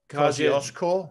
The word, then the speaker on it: Kosciuszko: And then you have Mount Kosciuszko. Yeah, in very, very well done with that pronunciation.